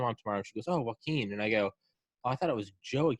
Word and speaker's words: Joaquin: is it is it it's joaquin you know like joaquin phoenix yes oh yeah okay